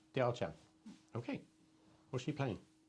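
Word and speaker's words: 貂蝉: Diao Chan.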